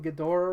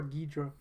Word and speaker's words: Ghidorah: Now, are you in the camp that calls him Ghidorah or Ghidra? I could go either way. It doesn't matter. I prefer Ghidra. One is Japanese pronunciation, the other one's American.